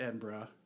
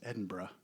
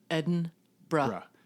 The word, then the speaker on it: Edinburgh: know, you fly into Edinburgh, which we tech talk taught us how to pronounce it. So it reads like Edinburg, but it's Edinburgh. Edinburgh.